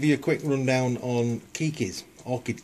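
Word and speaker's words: Keikis: a quick rundown on Kikis Orchid Kikis spelled ke i k i it's a Hawaiian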